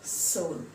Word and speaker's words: Seoul: the capital of Korea it's the Seoul s II or ul but you pronounce it as Seoul so that's a pun